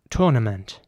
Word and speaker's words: tournament: is spelled t-o-u-r-n-a-m-e-n-t and in British English it would be tournament as From This Moment try wizard tournament has begun and in American English it would be more like tournament tournament the t-o-u-r is pronounced quite differently so it's tournament and